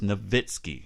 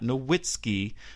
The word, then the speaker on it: Nowitzki: Dirk Nowitzki of the Dallas Mavericks yes the correct pronunciation of his last name is Nowitzki he's German so the W has to be sound it is not Nowitzki as i have heard